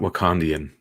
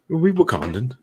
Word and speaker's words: Wakandan: gold wakandan arm yeah he kept calling it wakandian i was like don't you know how to pronounce the fictional countries wakandan yeah honestly this figure